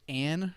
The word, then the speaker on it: Ayn: I'm gonna say Ann Rose. It's spelled like Anne Rand, so I'm assuming it's or Ein or Ann. It's AYN. So Like Enya? no AYN, Ann. like Anne Rand.